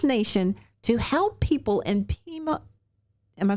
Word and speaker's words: Pima: gone across this nation to help people and Pima am I saying it right Pima County Pima yes Arizona I just think that is fabulous